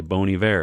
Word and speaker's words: Bon Iver: Bon Iver and then someone corrects them they say Bon Iver and you're like oh that was not obvious but sure and now they say that the reason why is because if you say it like that it sounds like the French word for good winter uh well uh good